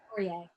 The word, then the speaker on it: Laurier: Laurier, yeah. Laurier. Pronunciation is not my thing.